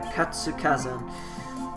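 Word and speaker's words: 活火山: Katsukazan.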